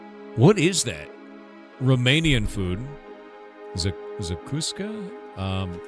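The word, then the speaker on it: zacuscă: Zakuska? Pronounce. How do you pronounce that? Let me see this. God, I don't want AI mode. Eat shit. Zakuska. Okay, I actually pronounced it correctly.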